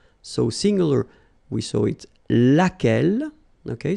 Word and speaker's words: lequel: singular we saw it lequel okay so basically same rule q is not pronounced here and then you get